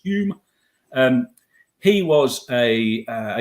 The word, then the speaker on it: Home: in the Middle there Mr home pronounced y William Douglas Hume um he was a